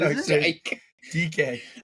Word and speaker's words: Dyke: DK. Is it not D I K E? It is spelled dyke. It's DK.